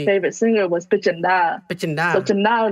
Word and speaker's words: Chhinda: So Chhinda, like, spelled like Chenda or Chinda.